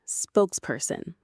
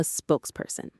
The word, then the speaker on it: spokesperson: That person is our ninth word, a spokesperson. Let's pronounce it. It's simply two words joined together. Spokes person. The syllables are spokes per sent. The main stress is on the first word.